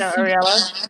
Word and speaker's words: Ariella: I love Ariella. Is that how you say her name? Yeah, she's Ariella.